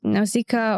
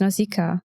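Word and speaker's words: Nausicaä: Also, how do we pronounce Nausicaa? Because it's Nausicaa in Japanese, but the way it is written, you would have to say Nausicaa with like the second A separate, which sounds weird.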